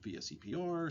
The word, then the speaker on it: VSEPR: repulsion theory, sometimes called VSEPR, sometimes sort of mispronounced as Vesper theory, but it's basically a